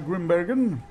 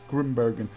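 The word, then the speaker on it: Grimbergen: I just hate it when you're talking in one language and you know Dutch is my native language and I can easily pronounce Grimberen. But you know when you do it in the middle of English sentences you tend to pronounce this like English people who can't pronounce anything and always butcher names and stuff.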